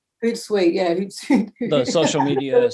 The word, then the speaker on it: Hootsuite: Hootsuite, Hootsuite, yeah, Hootsuite.